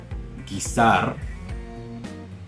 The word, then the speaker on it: guisar: If you see a word that begins with G-U-E, G-U-I, then the U is silent, but you pronounce the G like you normally would in English. So like guerra, guisar, there you go.